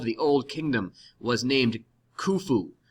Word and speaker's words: Khufu: god king of the old kingdom was named khufu pronounced phonetically fu so legend says this is a